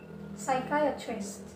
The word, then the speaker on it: psychiatrist: Jadi P-nya tidak diucapkan. Kemudian ada psychiatrist, ya, atau psikiater.